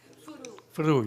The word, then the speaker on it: Furu: Is it Furu or Furo? How do you say your name? Furu, yeah, Furu, thank you, I wanted to get it right.